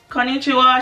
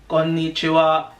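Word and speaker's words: こんにちは: to the first sentence, konnichiwa, she's like, no, that's not how you say it. Japanese tone is flat. You need to go konnichiwa.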